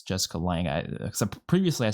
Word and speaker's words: Lange: People always keep correcting me on that, but I'm pretty sure it's Jessica Lange. Except previously I said Lange, I think, but it's Lange, right? You don't pronounce the E.